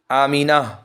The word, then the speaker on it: آمینہ: لیے استعمال ہوتا ہے۔ صحیح تلفظ آمینہ یعنی آخر میں ہاں کے ساتھ، جس کے معنی ہے